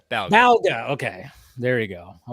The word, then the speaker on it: Balga: I feel you on that one uh Chris balga am I saying your last name right Bal B balga okay there you go I wasn't sure because